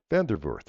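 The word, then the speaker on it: van der Voort: not in Celestial Darren put it in common vandervort yeah Vander yep bort okay okay uh he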